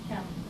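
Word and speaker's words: キャンプ: And it's spelled in Romanization N here, but the pronunciation is M with campu.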